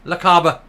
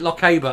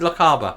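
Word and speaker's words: Lochaber: and badanok MSP and I hope I pronounce La Caba correctly this time I pronounced it Lockheed before and I was called off in the comments so leave it alone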